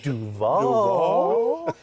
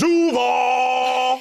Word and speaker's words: Duval: He went Duval. How would you pronounce it, James? Duval. What's your Broadway one? Duval. Yes, They all work.